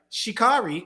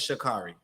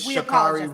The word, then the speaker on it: Sha'Carri: Show this morning and Hoda kept saying her name wrong I was like what is holder saying she was like shikari I was like it's shikari she was saying it like all crazy but it's shikari I apologize I didn't